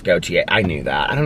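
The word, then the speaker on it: Gotye: i love that song it's pronounced goatee i knew that i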